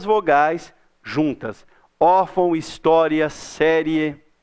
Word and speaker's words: história: Espera aí, história é paroxítona. A sílaba tônica é o tó. O tó é a penúltima sílaba. Ah, então termina em A? Não, não termina em A, termina em A. Não é história que a gente fala. A gente fala história, termina em IA.